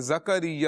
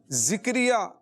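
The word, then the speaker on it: زکریا: ویسے زکریہ ہے، زکریہ، زا کے اوپر جو ہے زبر ہے، زکریہ، یہ اس کا درست تلفظ ہے۔ ذکریہ بعض اوقات لوگ پڑھتے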